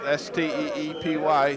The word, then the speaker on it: Steepy: Yeah, that was number 75, Luke Steepy, and that's the way it's spelled, S-T-E-E-P-Y, Steepy, who put the pressure on Mariski, and Mark had to release the ball a little early.